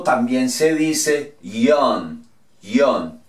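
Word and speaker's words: よん: Muchos dirán que 4 también se dice Yon. Yon, y es verdad, así. En este caso, la Y se pronuncia como una I.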